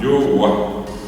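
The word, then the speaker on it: jogua: J o u eh perdón u a yoa. La jota ya saben, se lee como en el inglés o con el francés o como en el portugués.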